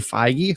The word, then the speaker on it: Feige: as all my words definitely Feige so I don't know why you keep saying it wrong for the last 18